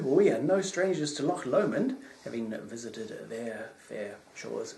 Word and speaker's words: Loch Lomond: i'm doing it again loch lomond not loc le monde naughty naughty naughty pronunciation there um campbell left this